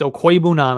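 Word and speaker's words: Okwuegbunam: okoibunam everybody's been telling everybody's been telling me it's no it's okoibunam I've been saying it right the whole time and then he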